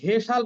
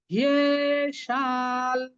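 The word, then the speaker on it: হ্যেষাং: সুতরাং এটা উচ্চারণটা হবে, আমরা কিন্তু হেসাল বলবো না, তাহলে হয়ের সাথে একার উচ্চারণ হয়ে যাবে। আমরা বলবো হিয়ে, হিয়ে শাল, হিয়ে শাল। আর লয়ের আমরা একটু লটা উচ্চারণ করার সময় নাকের সাহায্য নেব, এটা হচ্ছে সানুনাসিক ল, হিয়ে শাল। তাহলে আমি আবার বলছি, হয়ের হকে আমরা এ যে কারটা আছে হয়ের সাথে দিব না, দিব হয়ের সাথে যে অন্তস্থ ইয়টা আছে তার সাথে। সেই ক্ষেত্রে উচ্চারণটা হবে কি? হিয়ে, হয়ে না বলে হিয়ে।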